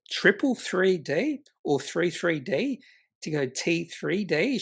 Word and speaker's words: 333D: Yeah, it just makes you wouldn't say 333D. We'll say triple 3D.